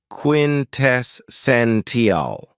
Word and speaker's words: quintessential: very cool adjective is quintessential and this word has four syllables with the stress on the third syllable quintessential when we say that